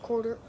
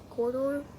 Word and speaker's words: Corridor: channels also I loved quarter corridor corridor that's how you say it um they they